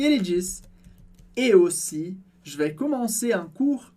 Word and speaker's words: aussi: E na palavra aussi, a gente tem o AU, que tem som de O, por isso, et aussi.